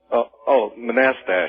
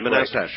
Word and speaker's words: Manastash: How do you pronounce the name of your town? Manastash? Manastash. Manastash. Right. That's right.